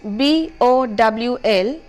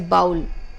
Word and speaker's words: bowl: the next word is B o WL which should be pronounced as Bowl and not as bowel many of us do it we say bow instead of bowl the next word is